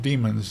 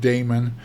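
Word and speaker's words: daemon: uh Linux they're called demons D AE m o n you might hear it pronounced Damon or demon you might hear it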